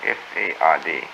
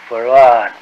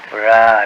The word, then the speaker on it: Fard: Farad, F-A-R-D, F-A-R-D. Fard. Muhammad. Mr. Yes. Fard, did you say? Well, that would be the F-A-R-D? pronunciation in English, but we in the Arabic yes, it's Farad. Fard. Farad, Farad.